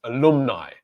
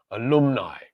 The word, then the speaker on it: alumni: And that is because the stressed syllable is on the second syllable. So the pronunciation of the letter A in each of these words is which is the schwa sound, in the word apple,